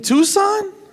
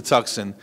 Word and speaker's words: Tucson: You mean Tucson?